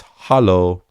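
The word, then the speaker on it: Hallo: the hollow greeting hello germans don't say hello it's hollow it's the most usual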